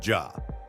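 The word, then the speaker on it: já: Hello is pronounced halo, thank you is tak, yes is ja, no is nei, and goodbye is segdu bless.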